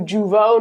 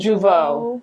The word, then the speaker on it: Jeuveau: And we do Jeuveau now. Well, this was my first time doing, is that how you say it? Jeuveau. Yeah.